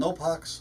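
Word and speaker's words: NO3:PO4-X: It's called Nopox, or that's how we pronounce it anyway.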